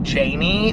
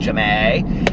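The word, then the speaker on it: Ja'mie: Australian as well, is, it looks like Jamie, but I believe it's pronounced Jamie, and, because it's like J apostrophe, but anyway, and she's like this schoolgirl.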